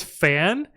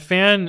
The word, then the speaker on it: Fan: But It's cool because when Fan introduces himself, he's like, "My name is Fan. Like I am a fan of," and then he waits for you to say your name, which is so sick.